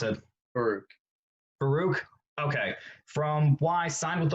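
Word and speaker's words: Farouk: pronounce the guy's last name how do you pronounce it baruch okay from why signed with oklahoma with his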